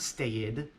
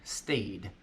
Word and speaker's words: stayed: if we compare to stayed off the coast stay plus Edie it's not stated and it's not state right in this case we pronounce it as a D stayed there's a rule for